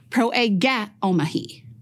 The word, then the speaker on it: proegeomai: This is how it’s pronounced, pro-e-ghe-omahi.